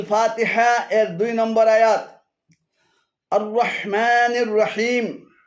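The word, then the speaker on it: الرحمن الرحيم: এক শব্দ আর রাহমানির শব্দটিকে ভেঙ্গে আর রাহ এবং মানির দুটি আলাদা শব্দে পরিণত করে উচ্চারণে ভুল করা হয়েছে শুদ্ধ পাঠ হল আর রাহমানির রাহিম আর রাহমানির রাহিম আর শুদ্ধ পাঠ হল আর রাহমানির রাহিম আর রাহমানির রাহিম এখানে আররাহ এবং মান উভয়টি ভুল উচ্চারণ শুদ্ধ উচ্চারণ হবে আর রাহমানির ছয় নম্বর সূরাতুল ফাতিহা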